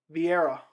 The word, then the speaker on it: Vieira: pereira versus rodolfo yeah rivera vieira is how you pronounce it it's an awesome fight